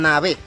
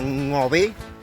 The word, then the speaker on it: Ngäbe: la radio etcétera etcétera cuando dicen la población nave la palabra nave no existe no significa nada lo correcto sería pronunciar 99 no sé qué cuesta tanto pronunciar la palabra no ve que es como nos llamamos nosotros a pronunciar